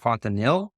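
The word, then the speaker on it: Fontenil: internship you did a stint over in chatau fontanil is that how you pronounce it yes and when I was looking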